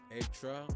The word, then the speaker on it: EGTRRA: It's also known by its abbreviation, EGTRA, EGTRRA, pronounced EGTRA or EGTRA, and it's often referred to as one of two Bush tax cuts.